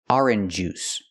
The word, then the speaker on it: orange juice: I cannot pronounce the words orange juice. Orange juice. This is not correct. First, we need to sound or like floor and more.